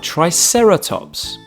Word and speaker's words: triceratops: today triceratops try sarah tops can you say it with me try sarah tops let's learn all about triceratops triceratops was found in